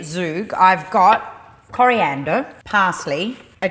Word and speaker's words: zhoug: what does this say the word is typically pronounced like zug yeah but with a strong back of the throat imitation in the first part zook that's what i'm [